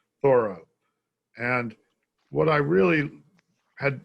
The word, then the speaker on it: Thoreau: very familiar with as we're supposed to pronounce his name thorough and what i really